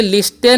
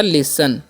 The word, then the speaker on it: listen: LISTEN है तो इसे लिस्टेन नहीं पढ़ना है। एल का ल करना है, आई का उच्चारण हर्षी करेंगे, एस का स, और टी का उच्चारण करना ही नहीं है, एन से न, तो हो गया लिसन।